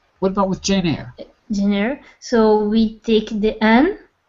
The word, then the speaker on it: Eyre: Because I know it's spelled strangely, but it's pronounced Eyre because it's Old English.